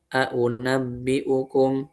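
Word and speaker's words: أؤنبئكم: Dia dibacanya juga dengan tahqiq kok untuk riwayat Imam Syu'bah dan juga Hafs ya. Gimana bacanya? Qul a'unabbi'ukum bi khairim min dzalikum. Qul a'unabbi'ukum. Dia dibacanya aja jelas seperti itu.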